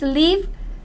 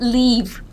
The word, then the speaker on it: live: It's not bye-bye living. It's live. I have problem with this pronunciation. Live. Not leave. Live, live, live.